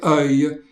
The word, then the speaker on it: œil: In questa breve scenetta notiamo anche la parola yeux, occhi, che al singolare è completamente diversa, si dice œil e si scrive O-E-I-L con una particolarità che la O e la E sono praticamente fuse insieme.